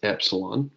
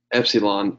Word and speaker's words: epsilon: Epsilon is pretty much always going to be the short E sound as long as it's by itself.